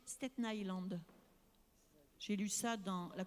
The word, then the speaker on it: Staten Island: Il paraît qu'il faut prononcer Staten Island.